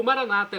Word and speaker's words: Maranata: E agora do aramaico eu clamo, Maranatá, como dizemos nós católicos, com a tônica na última sílaba, ou Maranata com a tônica na penúltima sílaba, como dizem nossos irmãos separados, os evangélicos ou protestantes.